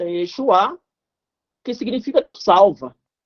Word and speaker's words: Yeshua: pelo próprio Moisés então o nome Josué no hebraico tem essa pronúncia Yeshua que significa salva e